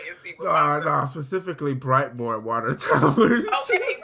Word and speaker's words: Brightmoor: Okay, Brightmoor. Okay, somewhere off. They let you because they make sure they pronounce that shit. No, it's Brightmo. Okay, Brightmo. First off, you don't pronounce the tree Brightmo.